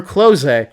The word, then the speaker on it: Kloe: When the OVA called her Kloe, turns out it was right. That's how they pronounce her name in the Japanese.